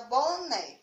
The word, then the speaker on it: boné: Então, vamos lá colocar o acento na palavra boné, tá certo? Ó, boné. Qual é a sílaba tônica da palavra boné? Vamos chamar a sílaba para a gente descobrir, ó. Boné. Então, a sílaba tônica foi o NE, né?